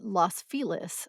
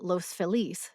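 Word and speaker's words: Los Feliz: the Los Angeles neighborhood Los felis or Los felis comes to mind while the early settlers to the neighborhood spoke Spanish most La locals Now Pronounce loss with a short o and felis as rhyming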